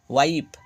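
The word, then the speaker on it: wife: ডব্লিউ আই এফ ই ওয়াইফ দেখো শেষে ই এর উচ্চারণ আসছে না এবং আগের আই এর উচ্চারণ আই হলো দেখো নাইন শেষের ইর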